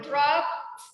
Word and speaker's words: dropped: I dropped. Con T sound at the end.